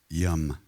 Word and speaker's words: yam: for the heart chakra in sanskrit it's pronounced yam that's really